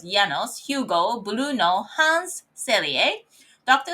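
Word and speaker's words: János: Janos, I think it's pronounced as Janos, Hugo Bruno Hans Selye.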